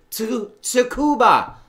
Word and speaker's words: Tsukuba: So, Tsukuba. There you go. That's how you say it.